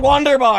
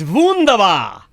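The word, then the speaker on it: Wunderbar: beer and a sandwich it's not wonder bar it's vundava you got to say it like a german is you don't say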